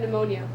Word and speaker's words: pneumonia: and feverish you have pneumonia very good you did stumble on the silent p that's fantastic good reading